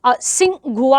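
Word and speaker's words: Tsinghua: अब देखो यहाँ पे लिखा है, यहाँ पे अब इसको क्या पढ़ेंगे, वैसे तो टी साइलेंट होता है इनके नामों में। सिंघुआ आ जाएगी यूनिवर्सिटी, चाइना में रैंक 1 है, याद रखेंगे।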